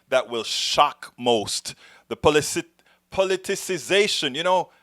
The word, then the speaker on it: politicization: The politicization, I always mess this word up because it has an extra syllable that I always kind of forget to put in. The politicization of COVID-19 is hurting us all.